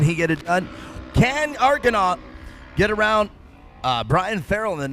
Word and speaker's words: Arkenau: And in a pretty respectable 4th, we have a Kyle Arkenau.